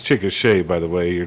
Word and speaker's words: Chickasha: got a place in anadarko over there it's chickasha by the way you're not indian so okay